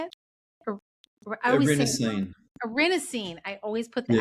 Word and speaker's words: erinacine: So are you finding that lion's mane then is a richer source of the mycelium or the erinacine, or is that how you say it? Erinacine.